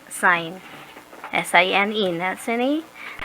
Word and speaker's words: sine: sign is abbreviated as s-i-n but we do not pronounce it as sin we pronounce as sine s-i-n-e that's any not